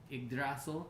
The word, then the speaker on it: Yggdrasil: world tree endorsement star yggdrasil or igrasso depending on how you pronounce or say it this is what's